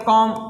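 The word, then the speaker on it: comb: हम लोग लिखने हैं सी ओ एम बी तो इसको क्या पढ़ने हैं कॉम तो यहां पे भी क्या है साइलेंट है इस तरह से एक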